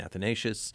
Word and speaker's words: Athanasius: Foyle principal at St A's in Evanston Saint athanasius see I learned how to say it and